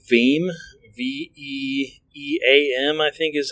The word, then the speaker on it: Veeam: But for backups, a great tool that we've been using recently, it ties in with VMware, is called Veeam. VEAM, I think is how it's spelled.